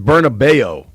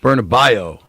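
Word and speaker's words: Bernabéu: I think it's Bernabo. Bernabo. Bernabio.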